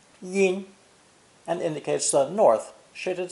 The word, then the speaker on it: 阴: It's pronounced first tone, yin, yin, and indicates the north shaded side of a mountain.